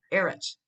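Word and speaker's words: ארץ: the middle is that and then you hear that at the end this word is eres which means land eretz israel land of israel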